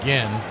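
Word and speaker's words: Ginn: I thought maybe it was Jin cuz it spelled like Jin but an extra N, but it is Gen.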